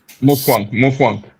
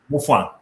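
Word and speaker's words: Mutfwang: uh governor how do you pronounce his name Mafika or something like that? I don't I'm not good at pronouncing his name. Mwan Muan. Muan okay.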